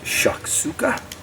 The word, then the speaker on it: shakshuka: This is a fabulous little dish called, I believe it's pronounced shakshuka. I think that's fairly close.